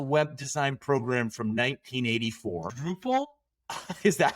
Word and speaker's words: Drupal: Drupal? Is that how it's pronounced?